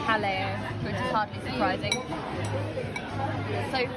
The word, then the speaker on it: Jaleo: I'm very excited also I realized that I've been saying it wrong it's hello which is hardly surprising